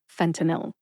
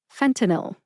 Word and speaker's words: fentanyl: they are fenil fenil Fen like Fenway Park the famous baseball stadium in Boston T like Toledo Ohio